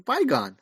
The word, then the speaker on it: Bigon: name just call him he's byon it's spelled like bigon and I like it